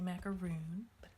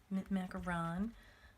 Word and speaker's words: macaron: to UM mint macaron always want to say macaroon macaron I'm told is the proper way to say it and then I'm gonna